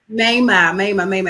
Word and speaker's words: Maimah: Maimah. Maimah.